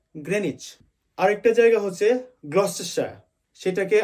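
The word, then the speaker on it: Greenwich: জায়গাটার নাম হচ্ছে গ্রেনিচ আমরা সবাই বলি গ্রীনউইচ বাট সঠিক উচ্চারণ হবে গ্রেনিচ আরেকটা জায়গা হচ্ছে গ্লস্টে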